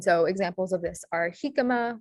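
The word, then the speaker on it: jícama: examples of this are jicama where the j sound makes a the j letter makes the ha sound uh junta where the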